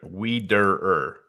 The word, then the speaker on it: Wiederer: Wiederer.